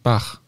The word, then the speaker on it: Bach: als das valisische ja darum würde im valisischen Bach dann eben tatsächlich Bach ausgesprochen Bach ja ja wobei und